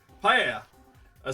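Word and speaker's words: paella: butchered those I'm sure PA a Spanish dish where only where one Cooks rice meat seafood and vegetables in a shallow pot seasoned with sapon coming from the Mexican here is pronounced paa fair enough Nasi gorang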